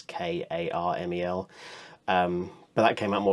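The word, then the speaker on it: Carmel: I think on Disney's website they recommend Caramel, not Caramel, and not Caramel, but pronounced the way Americans do. It's actual Caramel. I think it's Karmel.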